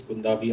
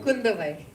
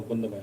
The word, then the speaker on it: Kundavai: So obviously you're playing Princess Kundabi. I hope I got the pronunciation right. Kundavai. Oh, Kundavai. I'm so sorry for that.